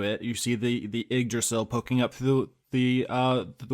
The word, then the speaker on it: Yggdrasil: you see the the Yggdrasill poking up through the the water and excuse me Austin I've played Tales of Symphonia and I believe it's pronounced you drasi ole come on there's gonna